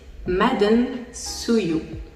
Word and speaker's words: maden suyu: Su, ça s'écrit S-U et ça se prononce su. Vous avez également l'eau pétillante qui se dit maden suyu.